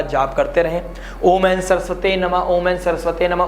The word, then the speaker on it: सरस्वती: में बैठा है, तो सरस्वती मंत्र का, गायत्री मंत्र का जाप करते रहें। ओम एन सरस्वते नमः, ओम एन सरस्वते नमः, उच्चारण सरस्वती होना चाहिए, सरस्वती नहीं।